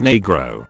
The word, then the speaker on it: negro: Negro, pronounced negro, is the appropriate word a Spanish-speaking child would use for the color black.